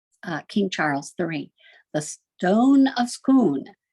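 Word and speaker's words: Stone of Scone: King Charles III the stone of schoon and they pronounce it the stun of schoon it's kind of Rhymes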